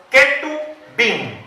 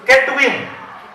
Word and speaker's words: Ketubim: Esa grada de libros se llaman los Ketubim, con K. Así se escribe, con K. K-E-T-U-B-I-I-M. Los Ketubim.